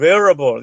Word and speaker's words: wearable: 저는 누가 그 영어 발음이라는 게 다 비슷하기 때문에 저는 wearable 이렇게 발음합니다.